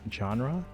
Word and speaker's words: genre: Genre? Actually, oh shoot. Let me clip that. Because that was a great way to show people how to actually pronounce genre. Genre, actually. It's supposed to be ja.